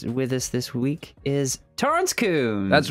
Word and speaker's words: Torrance Coombs: and with this with us this week is Toren Coons that's right you even pronounced it even pronounced it correctly hey I